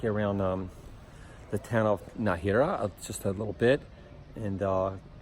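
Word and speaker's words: Nájera: Oh, by the way, I got the pronunciation. I asked somebody. It's Najera, not Najera, like I've been saying.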